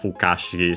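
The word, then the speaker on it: 不可思議: Fushigi is unaccented on its own, despite the accent of Fukashigi, so be careful, which is accent on the Ka.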